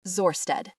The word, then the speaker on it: Zorsted: Jane understands the spelling of that one too, pronounced Zorsted.